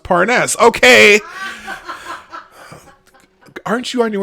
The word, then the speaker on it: Parnas: or he excuse me he said oh pronounced parness okay aren't you on